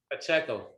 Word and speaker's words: Pacheco: How you say your last name? Pacheco.